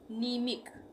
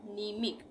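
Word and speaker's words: mnemic: आई सी ये है निमिक यहां प भी एन से पहले एम आ रहा है शुरू में ही तो यहां पर म का उच्चारण नहीं होगा यानी एम का उच्चारण नहीं होगा य पर न से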